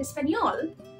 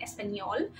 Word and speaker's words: español: removed from other letters it's only on n to pronounce n a like in Espanol and um and then